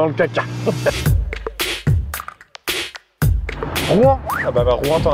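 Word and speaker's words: Rouen: et on m'a dit c'est en une syllabe fils de donc c'est rouan c'est pas r c'est comme les gens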